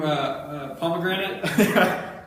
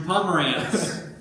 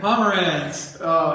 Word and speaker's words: Pomerantz: able to get anybody because I suck at pronouncing names. What was it? Drew Pomegranate? Drew Pomerantz. Dude, I don't know how many times. I think it was all year that I kept correcting. Drew Pomeranian?